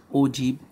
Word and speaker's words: ogive: For class 10 we have ogive curve, pronunciation is ogive curve.